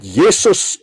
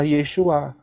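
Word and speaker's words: Yeshua: jelas Siapakah yang disebut Yesus di Indonesia itu ini adalah background-nya yang benar yaitu adalah roh-roh paganisme yang benar adalah yesua sekarang tinggal pilih mau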